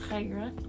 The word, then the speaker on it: Khairah: My Instagram and Twitter is Khairah_is_ here, and actually that's pronounced Khairah. Yes. So get it right. Get it right, bitch.